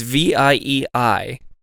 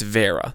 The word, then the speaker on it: Vieira: I gotta figure out how to say his name because you say Vera every single time and I say Vieira. Oh. It's Vieira. There's no way it's Vera.